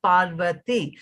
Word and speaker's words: Parvati: that i also like the rhythmic three syllabic sound of pal verti it's three syllables it works well with